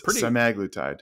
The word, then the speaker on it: semaglutide: horse's mouth of noo Nordisk I am not pronouncing it incorrectly it's semaglutide not uh the researchers and endocrinologists uh the